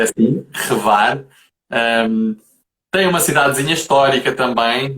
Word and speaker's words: Hvar: É difícil pronunciar, mas é assim, Hvar.